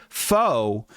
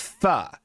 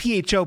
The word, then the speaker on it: pho: Firstly, it's not faux, it's pho. It's spelled PHO, but it's pronounced pho.